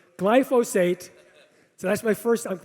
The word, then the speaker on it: glyphosate: it's active ingredient is called glyphosate everyone's everyone pronounces it wrong they always say glycophage it's glyphosate or they say glyphophosphate glyphosate so that's my first i'm teaching you know